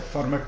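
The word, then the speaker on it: फ़र्मा: इसे दोनों नामकरण आप उच्चारण कर सकते हैं, फर्मेट थ्योरम भी कहते हैं लोग, फर्मा थ्योरम भी कहते हैं। अलग अलग यूरोपियन और इंडियन प्रोनाउंसिएशन है इसका।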